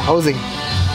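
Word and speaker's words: José: How do you say it? Wait, Ozzy? Hosey. Hosey? I've been saying Ozzy the whole time. Watching. Hosey? Yeah, Hosey.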